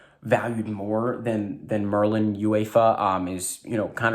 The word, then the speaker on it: UEFA: release we have merlin uefa so hey someone my chat uh helped me out with pronouncing i was saying uefa but it's uefa so there you go